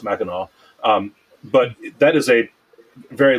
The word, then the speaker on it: Mackinac: which looks like it's spelled out looks like Mackinac, but it's pronounced Mackinac.